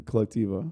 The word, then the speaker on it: Colectiva: And aren't you starting other than Colectiva?